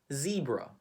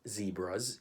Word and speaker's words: zebra: Okay, how do we pronounce it in the Philippines? We actually say zebra. Zebra. Do we have zebras in the Philippines? Do we have zebras in the Philippines? In the UK, they would pronounce it as zebra.